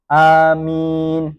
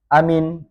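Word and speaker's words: آمين: Boleh juga maaf membaca amin seperti lafaz Yasin. Tapi boleh juga dibaca pendek amin.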